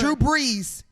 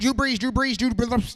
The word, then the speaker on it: Drew Brees: It's Drew Brees. I beat you. Say it 5 times. Drew Brees. Yeah. See? Say it. Drew Brees. Say it 5 times. Drew Brees. Yeah. Okay. Blue cheese. Drew Brees.